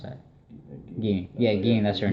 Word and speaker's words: Gine: How do you pronounce that? Ging.